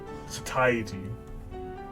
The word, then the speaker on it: satiety: How you pronounce this goddamn word? Satiety.